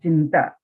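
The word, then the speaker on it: चिन्ता: The pronunciation of Chitta and Chinta, little difference is there. And what is the difference? Bindu matra visheshata. On the top only there is a bindu, anuswara.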